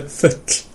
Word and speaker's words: full: At the moment, what you're actually saying is the word for bird, which is fugl, as opposed to futl. And it's not a sound that most people have in English. It's a little bit like two L's in Welsh, if that rings any bells, but maybe it doesn't. No. So, futl. Full. Yeah, so you're putting in a kind of k sound.